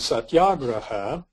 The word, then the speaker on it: satyagraha: And satyagraha, it's pronounced that way because the second day is long.